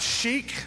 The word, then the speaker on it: chic: hi I C and I know that's pronounced Chic but I thought it said chick at the time so I said chick and this kind of